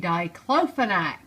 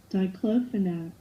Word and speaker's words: diclofenac: up online that I said it completely wrong to cleaning you're supposed to say diclofenac so I just wanted to correct my pronunciation diclofenac